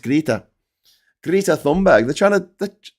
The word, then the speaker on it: Greta: Or Greta. It's pronounced Greta.